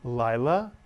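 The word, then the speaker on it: לילה: this word Lila mitsu and notice the followed by the yud is the English vowel I as in the word hi so the word is Lila Lila is night Y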